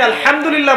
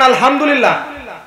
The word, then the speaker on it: আলহামদুলিল্লাহ: আছে বড় হায়ে হুত্তি এটাকে বলে বড় হা উচ্চারণ কোথা থেকে করতে হয় মাঝখান থেকে মাশাল্লাহ এখানে যদি আপনি আলহামদুলিল্লাহ বলেন অর্থ হচ্ছে সমস্ত প্রশংসা কার জন্যে আল্লাহর জন্য রব্বিল আলামিন তিনি জগৎসমূহের প্রতিপালক যদি বলেন আলহামদুলিল্লাহ বড় হা এর জায়গায় ছোট হাওয়াস হুতির জায়গায়